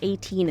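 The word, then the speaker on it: eighteen: There's another problem with the attempted rhyme of 18 and ceremony. While 18 has its emphasis on the last syllable, ceremony has its emphasis on the initial and second to last syllable.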